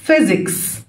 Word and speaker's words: physics: الفيزياء physics، physics. اول ما بلاقي بي و اتش بنطقهم اف، اوكي.